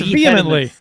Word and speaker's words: vehemently: That's vehemently. Vehemently. Vehemently. I thought you said wrong emphasis on the wrong syllable.